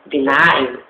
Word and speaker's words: benign: If you see, that word is pronounced as benign. Yes, benign. B-E-N-I-G-N.